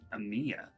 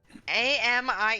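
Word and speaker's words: Amie: sure am Amy am Amia Amy a m i e i i pronounce that Ami Ami it's AI it's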